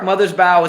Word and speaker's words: Mothersbaugh: Mark Mothersbaugh is how it's said, but the answer is Michael Giacono.